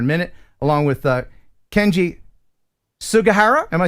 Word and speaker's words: Sugahara: We'll talk about that here in a minute, along with Kenji Sugahara. Am I saying it right? Sugahara.